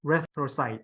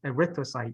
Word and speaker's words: erythrocyte: have to you know put the emphasis on the right word so it's it's a wrist erythrocyte okay so erythrocyte not erythrocyte not erythrocyte erythrocyte you put the second the emphasis on the second word so erythrocyte I said